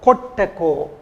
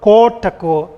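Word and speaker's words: koṭṭako: You can see O should be pronounced O, kottako, not kotako.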